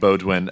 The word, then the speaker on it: Beaudoin: Is that the right pronunciation? It's Beaudoin, but anything works. Beaudoin.